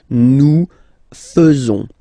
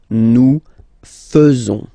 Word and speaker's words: faisons: So it's quite strange because French people tend to pronounce faisons. Okay? So like here, this AE is not pronounced like normally we should pronounce it like E, but then like E. Okay? Nous faisons. Nous faisons.